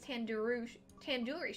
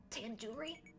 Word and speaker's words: tandoori: Surely you at least recognize tandoori chicken. You're saying it wrong. Wait, really? Tandoori? Tandoori. The do, it's like door. It's like doo-doo head.